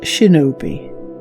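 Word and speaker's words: 忍び: In the native kun'yomi reading, it is pronounced shinobi.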